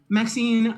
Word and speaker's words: Maxine: most squint exquisite varieties Maxine rhymes with Queen after all that is